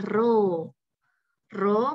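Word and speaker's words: ρ: anak-anak ya gimana jadinya seperti huruf P dibacanya adalah ro-ro menunjukkan nilai massa jenisnya =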